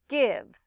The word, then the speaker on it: give: like in the word give. In this case, remember, it's an exception in that I, even though it looks like a vowel consonant E, it's a short I sound.